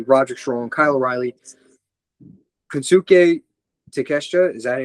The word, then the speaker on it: Takeshita: Team Briscoe, so Mark Briscoe, Orange Cassidy, Roderick Strong, Kyle O'Reilly, Kensuke Takeshita, is that how you pronounce it? Takeshita, yeah.